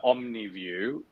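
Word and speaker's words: Omnevue: which is um uh omniview which is spelled differently to how you might assume that you would so it's uh the way that you hear it o m n e v u e um they've been they've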